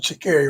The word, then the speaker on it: Sha'Carri: She pronounced it Sha'Carri, right?